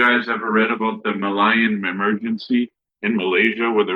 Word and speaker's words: Malay: They said that like out of the Communist Party of Malay, that was the name before Malaysia, but the Malay, that's a better way of pronouncing it.